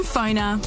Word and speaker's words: Phoner: Find people easier, market yourself better, and get connected using Phoner. That's spelled PFONR.